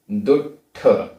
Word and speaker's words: दुट्ठ: कस्स, आधा सा पूरा सा, कस्स, कस्स, वी, वी, दुट्ठ, आधा टा ठ, दुट्ठ, कलत्तम, आधा ता पूरा